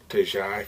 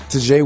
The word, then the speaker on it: Ta'Jae: Tajai Ford. In some cases, it's spelled T-A apostrophe J-A-E.